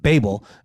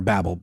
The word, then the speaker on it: Babel: to unifying language of course the story of Babel comes to mind or Babel I think I've heard to pronounce both ways um that story shows the